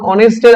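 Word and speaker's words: honest: দেখ কোন ওয়ার্ডের শুরুতে কনসোনেন্ট এইচ থাকলে এবং উচ্চারণ যদি অ আ বা এর মত হয় তাহলে তার পূর্বে এন বসবে যেমন অনেস্টের আগে বসেছে এান যেমন ইমন ইজ এন অনেস্ট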